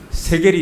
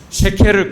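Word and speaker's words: שקל: 세겔이 있었죠. 원래 발음 쉐켈입니다. 그래서 쉐켈을 그대로 쓰고 있습니다.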